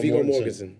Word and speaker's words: Viggo Mortensen: Viggo Mortensen.